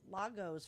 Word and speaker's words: Lagos: You could buy it at Lagos for $300. Lago. It's it's spelled like Lego, but I figured I'd just play it safe.